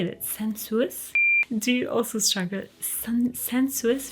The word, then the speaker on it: Sensuous: we've got centrosis how do you say that sensuous do you also struggle sensuous from Estee Lauder